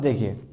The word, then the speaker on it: the: Example में क्या है, द house is pronounced as द house. मतलब यहाँ पे जो साउंड है वो किसका है, एक कॉन्सोनेंट का साउंड है, इसलिए यहाँ पे हम क्या बोलेंगे, द, ना कि दी।